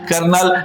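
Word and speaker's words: colonel: कर्नल का spelling क्या होगा बाबू? तो याद रखना है सी ओ एल ओ एन एल कर्नल यानी याद रखने का तरीका है नल होता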